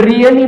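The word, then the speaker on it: really: मी याठिकाणी म्हटल रियली तर रियली मध्ये ए जे लेटर आहे हे हलकस सायलेंट होताना दिसत आहे परंतु पूर्णपणे सायलेंट होत नाही लक्षात घ्या त्याच्यानंतर आहे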